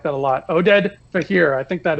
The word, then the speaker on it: Oded: I like that I like that a lot Oded but here I think that is the way to pronounce it yeah Wow good call we're out